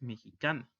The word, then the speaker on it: mexicain: Y la pronunciación es mexican. Aquí la unión de las letras A y N se pronuncia A, como una nasal fuerte. Si lo decimos en femenino, se le agrega una E, y la E, aunque no se pronuncia, tiene otra función, que es romper el sonido nasal.